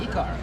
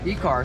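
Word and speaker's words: Ekar: So how do you pronounce this? E-car? E-car. E-car.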